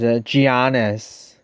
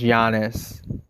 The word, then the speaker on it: Giannis: But I'll say that a lot of people, Giannis, a lot of people pronounce it as Giannis. Giannis, it's actually pronounced Giannis.